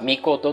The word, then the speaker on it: 命: も奇妙です例えば命て書いてね但し書きにこれは美琴と読みなさいて会であります